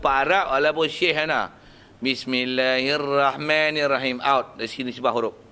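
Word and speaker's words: بسم الله الرحمن الرحيم: Bismillahirrahmanirrahim. Ra. Tafkhim. Ra besar dua bagi atas tu. Ra tu bagi atas. Bismillahirrahmanirrahim. Rahim. Bukan Bismillahirrahmanirrahim. Walaupun Pak Arab, walaupun Syekh ana. Bismillahirrahmanirrahim.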